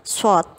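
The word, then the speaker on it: ص: Huruf shad membacanya dengan bibir agak ke depan seperti hendak bersiul, shad.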